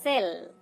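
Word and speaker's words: cell: সেল দেখুন এখানেও আমরা সি এবং ই কে পাচ্ছি। এখানে দন্ত স উচ্চারণ করছি ঠিকই কিন্তু তার সাথে একটা স্বর যুক্ত রয়েছে, সেটা হচ্ছে এ।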